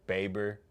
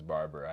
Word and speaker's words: Baber: zack aggie from eightfold darius barber baber i always say his name is barbara i hate that i do i just like see it and i'm like this word has to be it it's not um yeah it was really